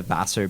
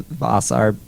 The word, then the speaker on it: Vassar: that band's called the vassar bastards bastard bastards like faster the college oh faster faster bastards how do you spell that v-a-s-s-a-r bastards yeah everyone says boss our boss are bastards that's our bastards we're